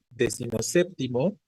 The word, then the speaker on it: decimoséptimo: Entonces qué hemos dicho décimo pierde su sílaba tónica y solo la conserva el segundo componente séptimo entonces la palabra decimoséptimo sigue siendo esdla o